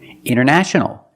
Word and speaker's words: international: The t is silent. Other examples. Internet. Internet or internet. International.